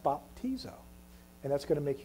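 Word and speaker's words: βαπτίζω: things the original Greek word for baptism is pronounced bapo baptizo isn't that pretty would you say that with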